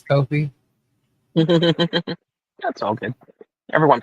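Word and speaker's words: Ko-fi: Calling it Kofi when it's Kofi. That's all good. Everyone pronounces it wrong, I'm sure.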